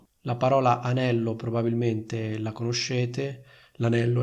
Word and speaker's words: anello: Quindi confrontiamo le due frasi. Da un lato c'è ho vissuto un annetto a Roma e dall'altro c'è le ho comprato un anello. Sentite la differenza? Annetto, anello.